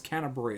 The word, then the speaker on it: Canterbury: has been canterbury with santa bury thing it's canterbury is how you pronounce the name of the album that i